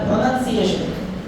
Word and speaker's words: pronunciation: Pronounce एक word है और एक है pronunciation. ये noun है तो नन बोलते हैं, CUP, कप, कॉप बोले कभी कॉप, कब बोलते हैं ना? NUN, none, NUN, none, pronunciation. Repeat after me, pronunciation.